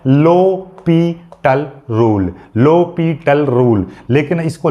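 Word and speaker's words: L'Hôpital: हॉस्पिटल, हॉस्पिटल मत बोलना है इसको, लोपिटल, यानी एच यहाँ पर साइलेंट है, लो है और एस यहाँ पर फिर साइलेंट है, ये साइलेंट है, ये साइलेंट है, पी और टल, ठीक है, लोपिटल, ये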